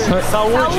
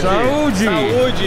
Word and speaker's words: saúde: Saúde. Saúde. Saúde.